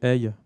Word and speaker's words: Aodh: métrique avec Gnocchi, et le nouveau projet AI, qui s'écrit AODH.